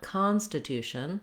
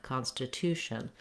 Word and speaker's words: Constitution: the main stress though I don't want Constitution I want Constitution so I have a little bit of length here and the clear vowel on my con syllable so letter O typically